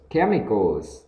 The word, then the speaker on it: chemicals: Mia smelled strange chemicals, âm ch này thuộc về âm k nhá, cam, nào số y này, chemicals, đó.